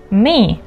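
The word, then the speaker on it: mig: May. Please note the pronunciation.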